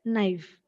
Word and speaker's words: knife: very common word knife it is k i but when you pronounce it that sound should not be uttered it is just knife Silent Sound but that